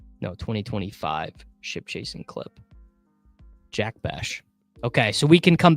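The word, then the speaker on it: Bech: Kine said to me I was saying Jack Beck and then kraine told me that he heard it Jack bash let's Google it right now how to pronounce Jack bash last name all right I'm going to I'm going to listen to this clip he uh he looks jacked Steph says it's bash it's bash yes brashard Smith is the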